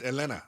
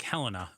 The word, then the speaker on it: Elena: we say it wrong Elena Elena it's Elena Sant Cruz okay I worked on that for a long time I thought it was like Helena but just Helena uh but with a